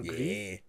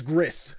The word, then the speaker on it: Gris: developers behind Greece or GRE again no idea how to pronounce it I say G I always get yelled at and it's like it's Gris dummy like whatever okay it's